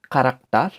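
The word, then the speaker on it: Charakter: যার উদাহরণ হতে পারে কারাক্টার, কারাক্টার। সে হা প্রথমে থাকার কারণে এটির উচ্চারণ হয়ে গিয়েছে ক এর মতো, কারাক্টার, বা ইংরেজিতে ক্যারেক্টার, যার বাংলা হচ্ছে চরিত্র।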